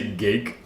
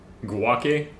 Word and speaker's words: Guake: G Oh, I was gonna say gake like quake, but no, it's guake.